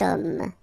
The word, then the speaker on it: homme: Remember, H is not pronounced, okay? So you get the sound of O at the beginning of this word, okay? Cet homme.